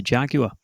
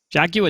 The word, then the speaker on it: Jaguar: Even doubling up into Jaguar. Jaguar doesn't sound as cool as Jaguar, the Americans say. I really they say it wrong.